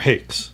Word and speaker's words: hake: on Hucky brushes or Hakes some of you say hake I think the correct pronunciation is hockey hockey doesn't matter I don't